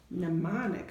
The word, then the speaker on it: mnemonic: Mnemonic starts with an M, but it's silent.